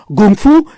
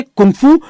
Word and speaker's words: kung fu: अब pinion system China का official system बन गया है, इसलिए से चाइना में ज्यादातर गुंगफू या गंगफू प्रोनाउंस किया जाता है। बाकी जगह लोग इसे कुंगफू या कंगफू प्रोनाउंस करते हैं।